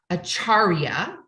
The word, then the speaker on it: Acharya: much to be said for this and it's acharya which is the title Master she's a master